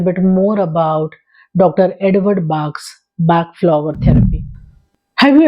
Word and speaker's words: Bach: The right pronunciation is Bach.